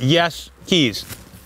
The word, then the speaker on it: Jaeschke: You're wondering how to say that, and so they actually make it phonetically. They just put yes keys. That's how you say it.